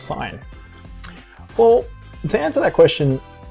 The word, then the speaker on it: sine: they call it sine so it's not the sin of an angle it's actually the sine of an angle that's that's what it's called and sine um when you think of sine you think of sinus um so like the